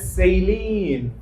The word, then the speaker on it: saline: দুই ভাবে উচ্চারণ হয়, সবাই বলি সেই লাইন, অথবা আমেরিকানরা বলে সেইলিন।